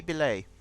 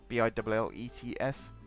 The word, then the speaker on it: billets: Des Billets. I've butchered that. I know I've butchered that. Des Billets. Maybe just Billets. B-I-L-L-E-T-S. Billets, as I'm sure some people would say, but I think it's pronounced Billet.